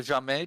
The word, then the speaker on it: jamais: It's the second syllable, Yeah. which is normal because French is always stressed on the last syllable.